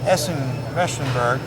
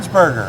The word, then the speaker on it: Ernsberger: thank you to Barb Essen wenberg from Habitat for Humanity did I say it wrong Erb ernsberger I was wrong wasn't I ernsberger from Habitat for Humanity